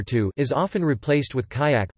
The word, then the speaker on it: kayak: is often replaced with kayak pronounced kaya.